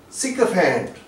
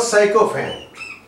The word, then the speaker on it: sycophant: This word is sycophant, not sycophant, sycophant, and this o is giving us a sound here, sycophant, and that is also a word which is commonly mispronounced systole.